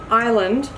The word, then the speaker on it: Ireland: People were saying Ireland. Can be pronounced both ways. Both ways. Both the way I pronounce it, Ireland, pronouncing the I-R-E, and also like island, like a tropical island.